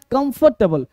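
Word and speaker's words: comfortable: मेरे साथ कम फटेबल come for नहीं कमफर्टेबल कमफर्टेबल फॉर नहीं फर नहीं फ कंफर्टेबल देखो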